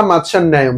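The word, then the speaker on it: মাৎস্যন্যায়: মাৎস্যান ন্যায় বা মাৎস্যান ন্যায়ম শব্দের শেষে মো অনেক সময় উচ্চারণ করা হয়, এটা আমরা একটু বলি।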